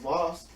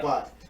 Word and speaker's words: Vought: The boss of Voss, am I saying it right? Vibe, yeah. Vought.